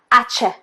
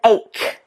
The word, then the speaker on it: ache: Lots of non-native speakers will pronounce this ch, ache, ache, rather than ache, ache. So there's a k, k sound. Your tongue goes to the back of your throat, whereas with ch, ch, the tongue goes up and more to the front.